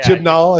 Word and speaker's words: Chibnall: Is it Chibnall? Is that how you say it? Yeah, Chibnall, I think is how you say it. Chibnall.